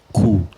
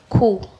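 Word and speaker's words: coup: we have cool c-o-u-p the p is silent so cool cool then tribunal tribunal yes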